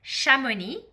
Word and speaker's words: Chamonix: So I'll pronounce this again, Chamonix.